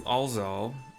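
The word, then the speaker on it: Alxaal: We talked to Alz Aal, A L X ray A A L. I'm pronouncing the X as a Z cuz sometimes it is and it's just easier than Alx Aal.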